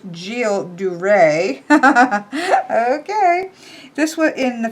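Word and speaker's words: Gilles de Rais: gu's dras uh oh it says pronounce j duray okay this was in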